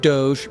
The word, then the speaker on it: Doge: Yes, I said Doge, pronounced and spelled the same as the memecoin.